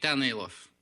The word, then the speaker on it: Danaylov: Is that how you pronounce that again? Donnalof.